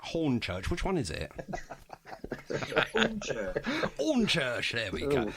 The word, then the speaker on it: Hornchurch: Hornchurch. Hornchurch. There we go. It's Hornchurch, but it's just the way Les pronounces it. There's no H's in Hornchurch.